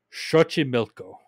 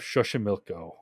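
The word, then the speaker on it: Xochimilco: try to pronounce this it has an X in it which is really awkward in Spanish but I looked it up before this so I'm gon to try to pronounce it Shi milco okay that I think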